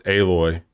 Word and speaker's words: Aloy: It's Aloy.